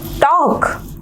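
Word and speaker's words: talk: ठीक है, नेक्स्ट है look at the word टॉक, here L is silent.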